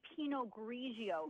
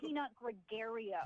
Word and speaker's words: Pinot Grigio: You don't even know how to say Pinot Grigio. It's not Peanut Gregario.